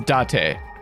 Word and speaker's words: Date: know i'm also sure date rhymes with fate not with arty but yeah it's date why did the original